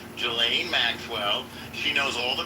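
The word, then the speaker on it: Ghislaine: a deal with Gain the S is silent. Gelain Maxwell, she knows all the particulars, who, what, where, when, why, and how.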